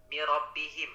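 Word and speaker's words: رَبِّهِمْ: Lalu di sini Pak Restu, huruf ro-nya coba kan di sini bertasydid ya. Iya. Nah, tadi kurang tekan. Mirabbihim bacanya.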